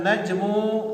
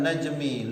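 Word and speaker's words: النجمُ: Batan najmu lami'an. batan najmu lami'an. Kalau saya membacanya batan najmi lami'an, benar? Salah. Kenapa? Karena an-najmu adalah isim bata.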